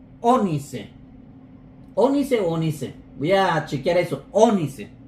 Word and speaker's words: ónice: voy a chequear eso onice acento en la o entonces lo que está